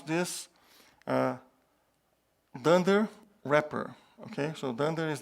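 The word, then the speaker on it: dunder repr: two methods than their so and when we pronounce this dunder wrapper okay so then there is the double underscore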